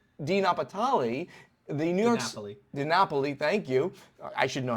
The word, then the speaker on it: DiNapoli: DiNapoli, thank you. I should know how to pronounce that.